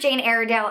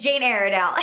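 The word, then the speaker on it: Jane Iredale: I have worked with Jane aale in the past and I know I say that name wrong I always get comments that are saying that I'm saying it wrong but it's Jane aridell and this is a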